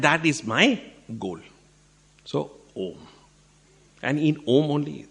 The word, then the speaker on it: Om: I told you all om represents three syllables or three letters uh U and M uh at the throat U at the lips M when you close it and all your